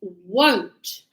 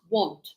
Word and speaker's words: won't: is your negative and it's won't not want it's not want it's wo wo won't won't no it's like o w good that is how you pronounce it if I asked you